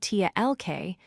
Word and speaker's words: talk: The word talk is spelled T-A-L-K, but we pronounce it as talk. You don't hear the L.